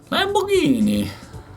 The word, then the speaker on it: Lamborghini: Lamborghini. I wish everyone would say it like that.